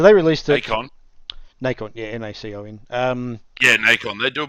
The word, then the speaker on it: Nacon: Nacon, yeah, N-A-C-O-N.